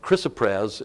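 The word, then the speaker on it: chrysoprase: the it's how this I know it doesn't look like that but from all that I have learned and how the dictionary divides the word that's how it's pronounced and uh this only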